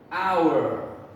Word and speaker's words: hour: c-h-g-h-r-h okay and remember there's four exceptions to the rules air honest er our we do not say the h sound so i'm going